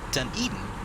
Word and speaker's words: Dunedin: brief ready okay uh the weather at uh dunedin as i've been uh kindly reminded is the correct pronunciation of the place we're going to uh